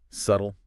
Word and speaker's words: subtle: Subtle. Right. Easy one once you know it. The B is silent.